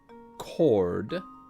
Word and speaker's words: chord: Well, actually, yeah, the H in chord is silent. Because normally it would be chored.